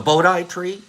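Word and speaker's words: Bodhi: was Buddha's tree the Bodi tree b o DHI am I spell am I am I pronouncing it correctly Bodi tree body tree Bodi B bod bod it's the Bodie tree okay the Bodie tree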